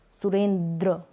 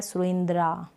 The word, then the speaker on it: सुरेंद्र: यहां पर हम लिखेंगे सुरेंद्र बोला जा रहा है सुरेंद्र लिखा जा रहा है सुरेंद्रा लेकिन इसको हम बोलते हैं सुरेंद्र एसयू सूर्यन आर्य नरेंद्र